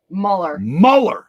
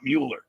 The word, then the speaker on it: Muller: Oh, it was Renee Muller, not Mueller.